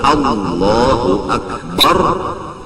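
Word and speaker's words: الله أكبر: Kalau Allahu Akbar bujur-bujur, jangan membaca A menjadi Ain, Akbar dibaca Ain, seperti Allahu Akbar. Kalau ya anak menuruti Arab, Allahu Akbar, itu hamzah dibaca dengan ain, maka hukumnya kada sah takbirnya.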